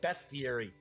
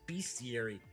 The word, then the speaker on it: bestiary: large Illustrated bestiary hello some people pronounce that best theory for some reason I always thought it's bestiary you're talking about beasts and creatures don't know we're also